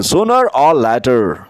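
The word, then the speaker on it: sooner or later: सूर और लेटर। सूर और लेटर लास्ट का जो आर है उसको क्लियरली नहीं बोलते। इसको एक तरह साइलेंट समझिए।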